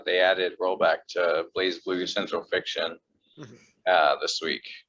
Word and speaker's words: BlazBlue: surprise brew bras but it's blaze it's it's blaze blue for sure um yeah so that also got